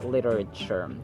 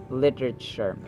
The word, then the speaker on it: literature: the second syllable where Actually t is pronounced as d sound to sound like an American speaker literature literature or literature literature